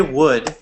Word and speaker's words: would: So when we say would, just as a pronunciation guide, we pronounce it exactly the same as wood, like the substance, right?